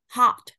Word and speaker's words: hot: nó là tức là nó là miệng o nhưng mà âm a nhé, là hot, đúng không ạ?